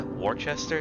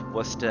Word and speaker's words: Worcester: like lenio ight that's another way you can pronounce that it's incorrect but it's another way oh yeah when someone gives is a Worchester no that's West it's Worcester and Billerica kit all right so let's